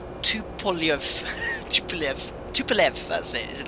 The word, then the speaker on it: Tupolev: Tesla got actually, no, Tupolev is not pronounced Tupolev, it's pronounced Tupolev.